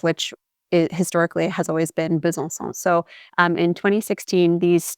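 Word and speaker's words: Besançon: for example like so bzon so it's not a hard c like in other French words for example the city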